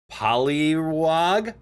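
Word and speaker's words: Poliwag: Also, the wag is pronounced like frog. Polywag.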